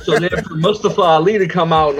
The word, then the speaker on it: Mustafa: But Mustafa is actually the correct pronunciation.